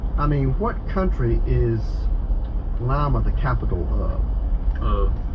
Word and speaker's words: Lima: I mean, what country is Lima the capital of? It's actually pronounced a little differently. Is it? Oh, Lima. It's Lima.